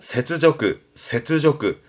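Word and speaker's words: 雪辱: 발음은 세츠조그.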